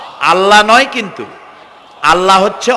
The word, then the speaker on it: আল্লাহ: কি গুণাবলীতে বিশ্বাস আল্লাহর নাম আল্লাহ বলেন তো আল্লাহ আল্লাহ নয় কিন্তু আল্লাহ হচ্ছে অশুদ্ধ শুদ্ধ হচ্ছে